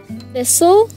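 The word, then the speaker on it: thistle: okay then we've got thisle thisle here the silent letters are T and E okay how about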